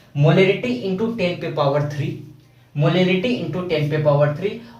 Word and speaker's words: molarity: आ रहा होगा, मोलिलिटी, एक में मोलिरिटी दैट मीन्स A का प्रोनाउंसिएशन आ रहा होगा। तो इस तरीके से आपको